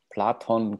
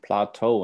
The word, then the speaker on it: Plato: conversation with my dad, why in English is Platon called Plateau and it's just missing the N? I have no idea, but yes, it's Platon in Greek and in Spanish. And in German, yeah. And in German. I think it's just easier to read or pronounced Plato, probably.